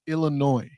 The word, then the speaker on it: Illinois: Hear the way she pronounced Illinois. There is no noise in Illinois. Correct. There is no noise. There is no S.